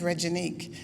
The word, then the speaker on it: Reginique: oh just call me Reggie my name is regenique but I tell people just call me Reggie